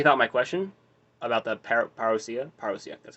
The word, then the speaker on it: parousia: See, apparently he thought my question about the parousia, that's how you say it, was actually formidable,